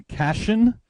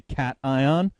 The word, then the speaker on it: cation: tempted to pronounce a cash in it is not cash in it is a cat eye on now the way you remember yeah it's not like vacation so the way you